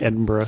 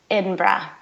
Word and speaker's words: Edinburgh: the city okay well my Scottish accent is pretty abysmal but edra okay so you're not saying Edinburg at GH is pretty silent so Edinburg or